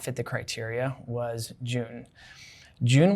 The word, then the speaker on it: Jun: the criteria was june june would have been pronounced as hoon in spanish so that name was